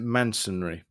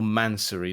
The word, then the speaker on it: Mansory: Oh, Mansory, not Mansonry.